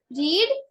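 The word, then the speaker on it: read: बट यहाँ रीड के अंदर ना स्पेलिंग तो सेम रहती है, but what is the difference is रीड, रेड, रेड्स, pronunciation में चेंज आ जाता है।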